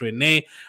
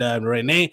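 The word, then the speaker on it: Rennes: I'm saying all of this in the French u the correct French pronunciation. I mean you can say Ren if you want. You can say Jaket if you want. It's Jeremy Jak and Renee until June 2029.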